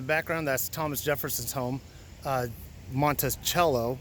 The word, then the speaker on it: Monticello: that's Thomas Jefferson's home Monticello pronounced by Italian meaning small mountain little Mountain Monte Montes mountain cello is little but that's in the